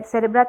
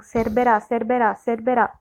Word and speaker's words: Cerbera: Now how will you treat this person who has taken this seeds or their Cerebra thevetia? Cerbera. Oh my God, I keep saying it wrong. Cerbera.